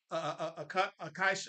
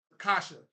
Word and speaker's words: Akasha: different pronunciations of it, but the real pronunciation of it is what is it? Akasha. There it is. Akasha, I believe that's the right pronunciation, but I know people